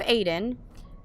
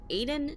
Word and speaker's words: Aiden: Through Aiden, and the name's supposed to be pronounced Aiden, not Aiden.